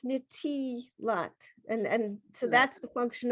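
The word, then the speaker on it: נְטִילַת: And I have the pronunciation of the next to the last word before Yadayim. Nitilat.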